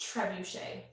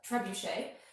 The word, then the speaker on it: Trebushea: curtain so my channel name is trebuchet which is a very hard name to pronounce it's like the catapult uh trebuchet and then i just